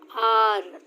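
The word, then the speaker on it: hour: वाले वर्ड है आर, तो आर में आपका एच क्या है, साइलेंट है. ठीक है, जब आप प्रोनाउंस कर रहे हो आर, दैट मीन्स ओ का साउंड आ रहा है.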